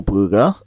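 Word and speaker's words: Brugger: and also Sandra Shuda now Hazel buer uh and yes that's how you pronounce it because um she was born in America I believe but yeah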